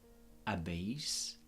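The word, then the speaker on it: habéis: us ass ah no notice that I am dropping the H and I am not pronouncing the H at all so it goes egg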